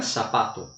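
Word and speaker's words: zapato: Então, se eu escrevo sapato em espanhol, se escreve com Z. Aqui na América Latina é sapato.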